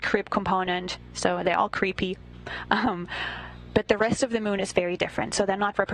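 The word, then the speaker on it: KREEP: a weird component that we call creep and it's spelled k re e e p in sense of pottassium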